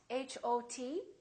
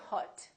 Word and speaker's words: hot: letter O so for example the word hot h o t we don't say Hut we say hot it's pronounced exactly as a A in the words